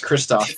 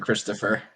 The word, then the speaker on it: Christoph: turning into Nate now it's Kristoff it's not Christopher yeah it's not Christopher he's German oh Kristoff gonna we're